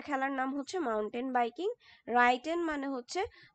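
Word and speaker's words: reiten: রাইটেন মানে হচ্ছে রাইটেন, এটার উচ্চারণটা এরকম হবে।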